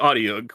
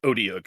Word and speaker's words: Audiog: Fought some more things, and the Audiog, which, can I just say, I love that monster. How did you say that? It's pronounced Odiug, I believe. I think it's a long O.